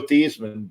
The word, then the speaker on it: Theismann: just didn't happen but it rigidly was Joe Theismann but that's that's really how to pronounce his name um really it really his